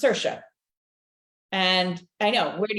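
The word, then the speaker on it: Saoirse: a o i RS e okay and it's pronounced sersa and I know where do you get that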